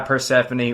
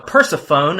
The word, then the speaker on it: Persefone: It is Spiritual Migration by Pphanie or if you want to pronounce it incorrectly like a cheese face. Uh, Persafhone as I've heard before.